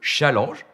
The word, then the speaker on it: challenge: vous releviez avec moi ce challenge prononcé à la française puisque c'est un mot qui a fait un détour par l'anglais mais qui à l'origine est un mot d'ancien français qui veut dire déjà défi.